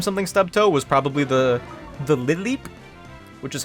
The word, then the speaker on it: Lileep: The only chance I had to name something Stubtoe was probably the Lileep, which is how it's pronounced, by the way, in case anyone didn't know.